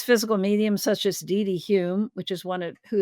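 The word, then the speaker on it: Home: light but famous physical mediums such as DD Hume which is one of who is one of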